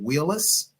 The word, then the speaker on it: Wheelis: on a personal note please tell me the proper pronunciation of your last name is it Wheelis you said it correctly that is correct all right all right